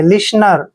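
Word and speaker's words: listener: Clear, next word देखिए LISTNER, जब भी यहाँ पे देखिए एन से पहले टी आता है तो वहां पे टी साइलेंट हो जाता है, यहाँ पे एल को हमने ले पढ़ना है, आई को छोटी की मात्रा पढ़ते हैं, एस को से पढ़ेंगे, टी को हमने यहाँ नहीं पढ़ना है, NE का उच्चारण ने के रूप में करेंगे और आर को रे लिखेंगे।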